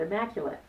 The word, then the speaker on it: immaculate: So where does the strong stress go in that word? Oh my goodness. It goes on Mac. That's right, Mac. So, we put the S on Mac and O's on the other syllables in the word immaculate.